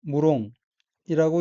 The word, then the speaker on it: 無論: 다음 어휘는 한자가 한국어로 무론이고 일본어로는 무롱이라고 읽으며 무롱은 물론이란 뜻의 부사이고 무롱의 동의어는 모찌롱입니다.